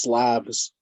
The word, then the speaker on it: Slavs: let me just interject, and just for anyone out there who's unclear, in English that's pronounced Slavs, and that's what Jesus is talking about, the Slavic people, Slavs.